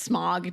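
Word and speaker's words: Smaug: it's hilarious that uh Martin pronounces it smow smow yes I was like I swear it's smog dude and then everyone else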